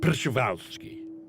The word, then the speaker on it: Przewalski: he was Russian so you're supposed to say Perceval ski and here he is we're talking about the